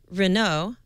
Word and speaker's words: Renault: French automaker Renault, that's Renault, I actually think this is how you say